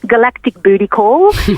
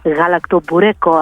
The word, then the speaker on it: galaktoboureko: So the people that are not good with pronunciation call it galactic booty call. And if you were to go into a Greek bakery and you called it that, chances are they would know that you wanted galaktoboureko.